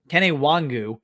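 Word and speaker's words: Nwangwu: lead guy here easily now uh ken a kenny wangu and that is how you pronounce it i'm gonna say it every time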